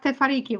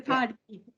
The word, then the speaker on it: Te Whāriki: The emphasis is on the A. Te is on the whāriki. Yeah. Tefariki.